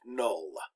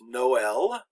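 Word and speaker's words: Noël: And all that does is to show that the vowel is pronounced. It's not silent or it doesn't blend in with the previous one.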